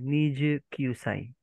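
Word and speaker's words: 二十九歳: Yung pagbigkas, sir, ng ano ha, Niju. No, sir. Niju Kyusai.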